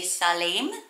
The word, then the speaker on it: Salim: version of the name you'd actually need to pronounce it bit differently it would have a shorter a no longer each it would be salim so salim means peace